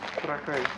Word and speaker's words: Trakai: Trakai.